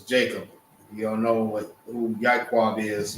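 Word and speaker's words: יעקב: You don't know who Ya'iqab is. Ya'iqab is how it's pronounced, is Jacob.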